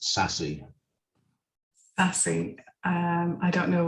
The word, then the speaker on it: SASE: for crossword and and sase is pronounced sassy sassy um i don't